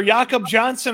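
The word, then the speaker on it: Jakob Johnson: Give the people the right pronunciation of the name. It's either Yakob Johnson or no fullback.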